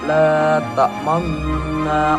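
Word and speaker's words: لا تأمنّا: Nah, untuk membacanya yaitu mengganti domah dengan isyarat bibir. Bisa kita lakukan dengan memajukan bibir kita, sehingga seperti ini, la ta'manna ala.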